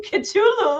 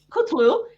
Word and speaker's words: Kutlu: How do you pronounce the And surname? Kutlu. So I Kutlu. said right. The last video I messed up. I edited it because I called you Cthulhu.